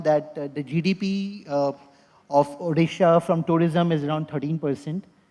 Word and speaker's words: Odisha: world and I think Odisa uh I'm sorry am I mispronouncing it is it Odisha right Odisha in in all its